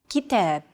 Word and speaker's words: كتاب: كتاب. كتاب. Notice that the second syllable is stressed. It's pronounced longer and louder, while the first and final syllables are shortened. كتاب.